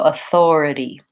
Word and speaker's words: authority: and then or so having that rounded o and gliding into the herb so earth or then tongue between teeth for four and then our first syllable is our vowel schwa sounds like aa so a Thor and then we have a vowel yeah slap T sounds like a light D and our e vowel so Authority Authority quick long quick quick Authority once you can say